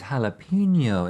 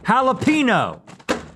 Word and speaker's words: jalapeño: But let's see if these jalapeno M&Ms from 2019 are worthy of a comeback. Not jalapeno. You're saying it wrong. Jalapeno.